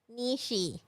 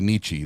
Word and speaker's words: Nietzsche: Nishi. Here you go. Nietzsche. You know what? I think it's really Nietzsche that you pronounced it Nietzsche.